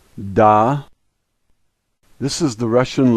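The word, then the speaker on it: да: the first letter is dead and the a is pronounced like our a and so this word is da this is the Russian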